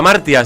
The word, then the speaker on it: Hamartia: Recuerden, revista Martia se escribe con h.